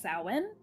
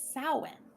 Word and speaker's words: Samhain: And for those that don't know, it is pronounced Samhain. And it is spelled Samhein. Or, I'm sorry, Hain. I always do that. It looks like Sam Hain. It really does look like Samhain. Yeah, and it's Samhain.